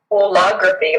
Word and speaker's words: holography: Holography, like whole or all of it.